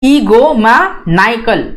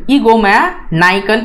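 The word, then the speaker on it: egomaniacal: है प्रोनाउंस करते समय, और थोड़ा सा जो है एनआई को ज्यादा स्ट्रेस करना है as compare to E, right. ईगो मा नाइकल, ईगो मा नाइकल, इस टाइप से जो है इसको आप प्रोनाउंस करोगे।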